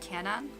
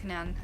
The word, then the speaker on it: Canaan: girl thing didn't we it's pronounced canon i'm not sure usually you gotta pronounce both a's always tripped up by the words that have the the doubles like that that's why i have